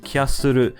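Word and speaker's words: キャッスル: Koopa is the Japanese name for Bowser, and Kyasuru is how you would say the English word castle in Japanese, so both languages use the same name.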